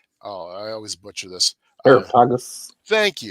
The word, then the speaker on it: Areopagus: Areopagus. Thank you. Always get the syllable on the wrong spot. It's that Greek language, you know.